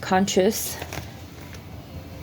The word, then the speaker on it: conscience: Okay, so the word conscience, okay, that's what it looks like, but it's pronounced conscious.